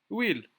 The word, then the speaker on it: huile: Huile. Ici, huile, c'est un nom qui commence avec une H muet.